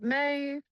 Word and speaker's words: M.A.Y: Yep, M.A.Y, M.A.Y, Midwest American Youth.